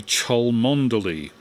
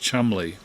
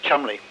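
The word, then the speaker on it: Cholmondeley: read it would be chol mondeli c-h-o-l-m-o-n-d-e-l-y chol mondelee and apparently it's pronounced chumley chumley which reminds me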